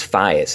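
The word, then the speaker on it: FAES: Police and it's called the in Spanish it's phias it's f-a-e-s they're the same guys that actually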